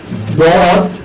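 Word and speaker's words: ض: আচ্ছা, এরপর হরফের নাম হলো দর। এটা মোটা হবে, শ্বাস বড় থাকবে এবং মাত্রার 7 অনুযায়ী হরফটাকে উচ্চারণ করতে হবে।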